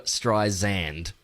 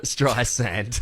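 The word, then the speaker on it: Streisand: mispronouncing it and it's they're saying Barb Barbara stri zand right instead of sand cuz it's spelled like sand like yeah barbar Barbara stri sand I can't hear that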